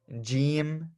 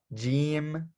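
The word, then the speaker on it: جيم: letter we call it g g so first let me spell this out for you so we have have J and then e e m we have the letter g g okay and this one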